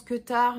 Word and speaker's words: Qutar: Donc le quet top qui se prononce quar mais qui s'écrit Q U t a r